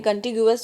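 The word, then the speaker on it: contiguous: Basically कॉन्टिग्यूअस पढ़ते हैं इसको, कॉन्टिग्यूअस भी पढ़ देते हैं लोग, लेकिन कॉन्टिग्यूअस जो है इसका सही प्रोनाउंसिएशन है इसका, ठीक है।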